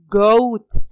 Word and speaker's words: goat: Long O and A is silent. When, huh? When two vowels come together in a word, the first is token and the second is silent.